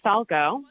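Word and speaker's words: Falgout: members of the committee my name is Falco that is spelled a-m-b-e-r-f-a-l-g-o-u-t and I am the Northern Nevada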